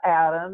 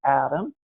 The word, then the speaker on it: AHDAM: Yes, we pronounce it as ADAM.